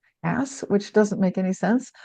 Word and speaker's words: Hass: Now, I thought they changed it to some unfortunate or made a typo to Hass, but no, it's supposedly always been Hass, which doesn't make any sense.